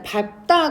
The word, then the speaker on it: 밟다: 기억이 있었고 그다음에 이제 밥다 같은 경우에 얘는 밥으로 발음이 됩니다. 얘는 이제 앞에 거가 탈이 삶은닭에 없으니까 원래는 뒤에 거가 탈락해야 맞잖아요. 근데 밟다의 밥은요 앞에 리을이 탈락해 버리고 비읍으로 발음이 됩니다.